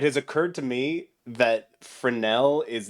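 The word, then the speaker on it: Fresnel: Um, but other normal people who don't have crazy nerds for parents don't know that the word frenel is pronounced frenel. So it's frenel. It's frenel.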